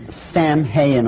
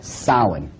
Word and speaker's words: Samhain: Now, when you look at the name, it looks as if it's saying Samhain or something like that. No. This is properly pronounced in the ancient Gaelic as Samhain. Samhain, according to occult tradition, was the Lord of the Dead.